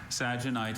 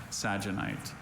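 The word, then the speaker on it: sagenite: Saginite is a mineral consisting of an acicular rutile that occurs in reticulated forms and is often embedded in quartz or other minerals.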